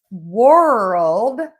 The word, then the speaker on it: world: World is. So, we're going to really move our mouth for that one. World. You can see how much I'm moving.